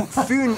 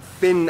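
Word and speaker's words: Fyn: information it is connected to foon island not finn island by the great belt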